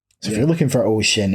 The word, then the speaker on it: O-SHiN: quite interesting um so if you're looking for ocean it's spelled in all caps oh Dash s-h-i-n and